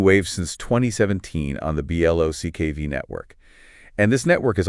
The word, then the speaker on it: BLOC: the other side we've got BL and that's pronounced block which is making its debut on the xrpl